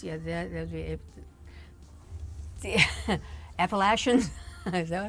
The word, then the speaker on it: Appalachian: Oh, the Appalachian.